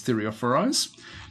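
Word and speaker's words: Thureophoroi: Anyway, we've got a lot of these Thureophoris. That's now the correct pronunciation.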